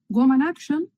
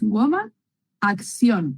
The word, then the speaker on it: Woman Action: Entonces, mi usuario de Instagram es Woman Action, pero aquí lo importante es Woman acción, ¿vale? Yo lo pronuncio en inglés porque me encanta cómo suena. Pero es acción en español, ¿vale?